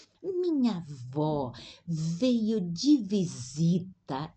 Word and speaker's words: avó: seis minha avó ou aqui a pronúncia avó minha se fosse masculino seria meu avô isso provoca Muita confusão